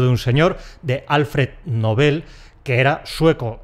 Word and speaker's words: Nobel: Y en sueco ese apellido es palabra aguda, así que tenemos que mantener la pronunciación aguda, que es la única que admiten las Academias de la Lengua. Se pronuncia igual, igualito que el adjetivo “novel” (‘novato’).